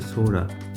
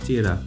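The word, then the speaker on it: Sohra: হতে দেবে না এই চেরাপুঞ্জির আসল নাম হচ্ছে সোরা যখন ব্রিটিশরা এখানে আসে ওদের উচ্চারণের সমস্যার জন্য সোরাকে বলতো চেরা সেই কারণেই এই জায়গার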